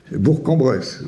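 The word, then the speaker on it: Bourg-en-Bresse: le jeu de 1000 € euh que dit-on bourambresse ou bourcambress bourcambress bon mais je le savais pas forcément hein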